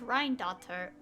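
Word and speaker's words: Rhinedottir: like this entire world and how apparently it's pronounced ryan daughter i said rin for some reason which wouldn't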